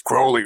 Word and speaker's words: Crowley: Hey, you're pronouncing Crowley wrong. It's Crowley. It's like holy.